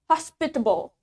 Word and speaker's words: hospitable: Okay, the last word we have hospitable, hospitable. In British accent, the stress is in the middle or in the second syllable. Di suku kata keduanya, hospitable. And in Australian accent, the stress is in the first syllable, hospitable, hospitable.